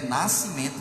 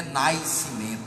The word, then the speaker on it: nascimento: Quando a gente diz nascimento, é nascimento mesmo, não é nascimento, né, que nem ninguém pronuncia o i, né?